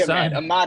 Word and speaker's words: Ahmad: i went i apologize yeah uh it's usually a mod is a mod is outside the box as